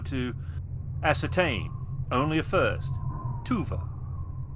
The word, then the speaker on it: Tuva: Tuva, spelled like it sounds, T U Va.